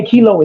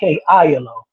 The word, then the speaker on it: Kelo: If you see the way Kelo is spelled, it's Kelo, not Kilo.